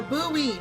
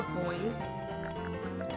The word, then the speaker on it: buoy: It's a buoy, not a boy.